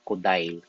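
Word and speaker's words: Kodály: Ang spelling niya ay kodali. Pero pag binasa mo siya kodil yung pronunciation sa nationality nila, sa language nila.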